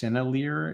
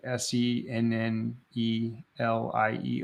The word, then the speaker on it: Sennelier: I think it's pronounced Sennelier. It's like Sennelier or something like that.